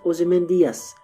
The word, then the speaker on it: Ozymandias: Now, if I pronounce the name of the poem Ozymandias, giving it 5 syllables, but Shelley in his time period and in Britain would have pronounced it Ozymandias, giving it only 4 syllables.